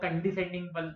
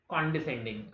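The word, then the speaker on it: condescending: Pronunciation पे ध्यान दें, काफी लोग कंडिसेंडिंग बोलते हैं, गलत है, कॉन्डिसेंडिंग।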